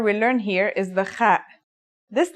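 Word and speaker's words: خ: According to phonetic charts, ha is pronounced in a deeper part of the throat than kha. Listen and repeat. Kha.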